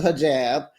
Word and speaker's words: hijab: It's a hijab.